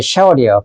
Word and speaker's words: 쉐월: 내가 쉐월, 원래 쉐월이에요, 발음이. 지옥을 말하는 거죠, 무덤.